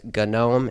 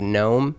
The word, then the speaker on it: GNOME: Now formally, GNOME was a part of the GNU project, which was, or is, I think it's still a thing.